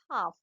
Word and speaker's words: half: It's pronounced a 1/2 butcher. L is a silent to here. So it's a half.